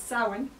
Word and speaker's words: Samhain: In modern Irish, it's Samhain. But it's thought that it would have been Samhain in Old Irish, like more like a V sound rather than the way we pronounce the MH now.